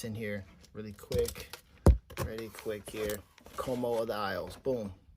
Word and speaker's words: Ko'Mo of the Isles: Como of the Isles, boom. Como of the Isles.